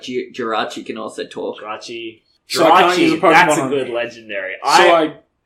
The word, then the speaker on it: Jirachi: Geriatric? That's not it. Spell it. Jiraich. Oh, no, there's no I before the CH. So it's Jirachi. Jirachi.